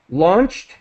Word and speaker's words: launched: So transformed with a d sound, launched with a t sound.